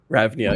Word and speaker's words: Ravnia: Ravnia, yep, you're saying it right. Ravnia, yeah.